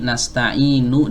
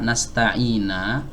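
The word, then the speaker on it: نستعين: na'budu wa iyyaka nasta'in, harusnya nunnya ini nasta'inu di dhammah. Kalau ada yang membacanya dengan fathah nasta'ina atau nasta'ini, itu tidak merusak makna. Ya, dari mana kita tahu ini merusak makna atau tidak merusak makna?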